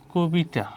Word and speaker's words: কবিতা: মূলত একটা অ আছে, এবং নিয়ম কি অ এর পর যদি রস্যই বা দীর্ঘই থাকে, তাহলে হবে কি এই কটা, এই আগের যে ক, এটা হয়ে যাবে কি ও হয়ে যাবে, তাহলে এর উচ্চারণ হবে কি কবিতা।